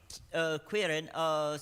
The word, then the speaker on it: qryn: So, qryn. qryn. So think of it as like querying. Okay, qryn.